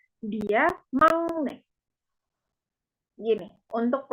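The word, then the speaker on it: 막내: Jadi di bahasa Korea itu ada peraturan pelafalan di mana giok ini G bacanya giok, kalau ketemu nian atau miam, ketemu n atau m, gioknya berubah menjadi iem, menjadi ng. Jadi makne bukan makne bacanya tapi mangne, seperti itu.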